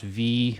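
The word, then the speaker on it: VVVVVV: forever um the game i think it's just pronounced v but you know the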